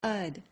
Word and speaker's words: had: Finally, had becomes ud when had is a helping verb.